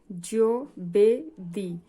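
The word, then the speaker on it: giovedì: জি এর পরে ই আছে তাহলে হবে জ এর মত উচ্চারণ। জি ও জি ই ও বেদি জবেদি।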